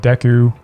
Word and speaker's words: Deku: here personally i think deku like dexter that's how you say it someone said it's like i'll deck you well he did deck